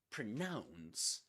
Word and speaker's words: pronounce: So pronunciation pronunciation pronunciation but pronounce has only one sy one one accented syllable nouns. Pronouns and pronouns rhymes with a nouns.